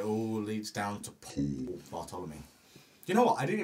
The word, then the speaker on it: Bartolome: So it all leads down to Paul Bartolome. You know what? I didn't even know how to say your last name. Bartolome. Bartolome. There's like an Bartolome. accent on the E.